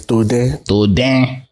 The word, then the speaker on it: Toden: If you date the abroad, you can say Toden, okay. But the actual pronunciation is Toden.